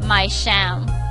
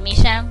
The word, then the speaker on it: Misham: mam likely comes from my sham H so his name is my sham not mam my sham I don't